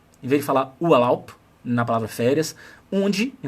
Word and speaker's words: Urlaub: estar com a pronúncia errada, porque você vai pronunciar com a cabeça de um brasileiro ou brasileira, percebe? Então você vai falar assim, Urlaub, em vez de falar Urlaub, na palavra férias, und, em vez de falar und.